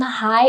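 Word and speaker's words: 嗨: by younger people so simply say hi as you would say it in english because hai is translated from english based on the pronunciation hi the next set of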